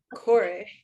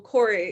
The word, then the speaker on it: Kore: good to start at the beginning sure yeah cor so Corey is k o r e very commonly um